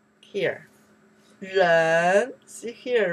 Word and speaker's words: 人: Ren. Person. Wow. Ren. How many characters you learned out here? Kou. Zhong. Here. Ren.